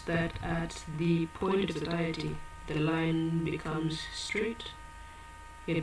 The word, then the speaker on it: satiety: You said where you have a lot of goods, you said it's a point of Satiety.